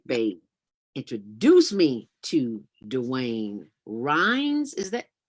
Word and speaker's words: Ryines: And Big Bay introduced me to Dewayne Ryines. Is that Ryines? How do you pronounce it? Ryines. Right. Say it again. Dewayne Ryines. Ryines, Dewayne Ryines, just like it sounds, but with a Y.